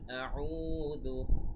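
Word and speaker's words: أعوذ: কুল গলার ভেতর থেকে খুব স্পষ্টভাবে বলতে হবে কুল কুল কুল আউযু। আউ এখানে এক আলিফ টান, দু দালের উচ্চারণ খেয়াল রাখতে হবে, দু পাতলা ভাবে।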